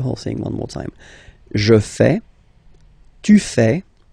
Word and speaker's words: fais: Je fais. Je fais. Remember, final S not pronounced. Je fais. Tu fais. Same rule here, final S not pronounced.